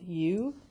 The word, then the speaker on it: eu: biology so whenever you the EU which we pronounce u it means true and